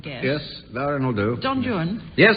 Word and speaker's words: Don Juan: Don Juan. Yes, it's Don Jun and um Byron the